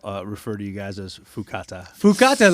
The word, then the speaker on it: Fuákata: Fuákata. Am I saying it right? No, you're saying it perfect. Perfect. Better Honestly, than most. Yeah, better than most. You could be saying Fuákata, Fuckta, Fupa Taco. We've been called everything.